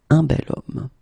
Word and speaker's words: bel homme: So remember, I say the sound of a vowel because, of course, if you look carefully, you've got H here, okay? And it's not a vowel at all. But then in French, we don't pronounce it. So the first thing that you hear, it's so it's O, it's the vowel here.